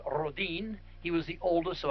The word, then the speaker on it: Rhoden: And uh uh Rhoden, in he's a Swedish extraction, uh is pronounced Rodin.